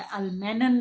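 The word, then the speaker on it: Ullmann: मिलता है plus 2COI, तो इसको बोलते हैं अल्मन रिएक्शन। ओके, या अल्मेन रिएक्शन भी बोल देते हैं कोई, या अल्मेनन रिएक्शन भी बोल देते हैं। अल्मन, मैं तो चाहूंगी आप इसको ऐसे प्रोनाउंस करो, अल्मन रिएक्शन।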